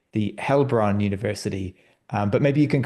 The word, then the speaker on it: Heilbronn: it's EI, it's A usually pronounced. So it's Heilbronn. Heilbronn.